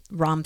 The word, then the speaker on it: Ram: or you're into sound the sound is ROM it's spelled Ram but it's like wrong like wrong really deep and drawn out because that vibration shifts